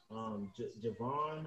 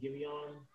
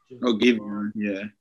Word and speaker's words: Giveon: So I think them, some other people, Javon, I think that's how you say his name, Giveon. Giveon, yeah.